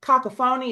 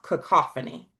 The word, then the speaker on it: cacophony: The word that you said cacophony is actually pronounced cacophony.